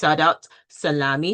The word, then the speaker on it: Saudat Salami: Well, first off, let me say her name properly. Her name is Saudat Salami.